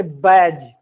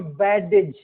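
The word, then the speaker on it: badge: जैसे बैज, न कि बैडेज नहीं, बैज। ब्रिज, बजट, as, fridge, knowledge.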